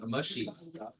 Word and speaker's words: amashi: the lore is um there's these little creatures called the amashi and pronounced that way because it's like Among Us right mushies right they um the